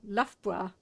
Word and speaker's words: Loughborough: That is how Loughborough is pronounced.